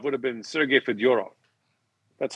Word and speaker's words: Fedorov: gets easier so so russian names for the most part the accent is on the middle syllable which is interesting because if he kind over if he'd come over 20 years later sergey fedorov would have been sergey